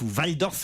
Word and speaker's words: Walldorf: culture signé de l'allemand marcel walldorf louve idof si je doit prononcer à l'allemande a créé la polémique